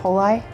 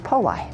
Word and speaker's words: Poli: So like roly-poly, but over the years it's been changed to Poli.